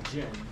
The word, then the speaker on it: Jun: Yes, I go by Jin. Just J-U-N? J-I-N. Did I spell it wrong?